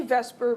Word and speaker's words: VSEPR: okay Vesper Theory um we say Vesper because otherwise it's impossible to pronounce but it is vs